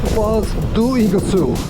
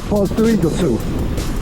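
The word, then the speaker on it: Foz do Iguaçu: live in I've heard a lot of people pronounce it it's fals doosu FAL doosu I heard people say say in all funny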